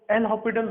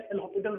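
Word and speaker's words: L'Hospital: Actual में S silent होता है, एल हॉस्पिटल रूल है। अब हम हॉस्पिटल ही बोलेंगे।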